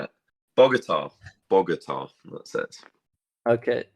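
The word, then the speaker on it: Bogotá: I was uh is it the kogoga a pronunciation yeah um now you've maybe not be able to say it Bogota Bogota that's it okay how how is Bogota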